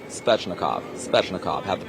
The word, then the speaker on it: Svechnikov: It's Svechnikov. Svechnikov. Have to pronounce that 10 times over.